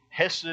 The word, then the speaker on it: hesed: The Hebrew word here, you may have heard it said before, the word hesed or hesed, it's pronounced a couple of different ways.